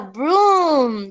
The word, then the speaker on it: broom: It's a broom. Yes, very good. No brown, sino broom. Las doble O suenan como la U.